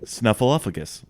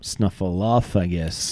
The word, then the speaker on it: Snuffleupagus: was over the pronunciation of Big Bird's friend's name. Snuffleupagus.